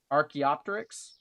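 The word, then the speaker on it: Archaeopteryx: I can never ar No, archaeopterics. Archaeopterics is how you say that.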